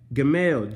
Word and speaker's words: Gimel: This one's G-I-M-M-E-L, but you pronounce it Gim-El.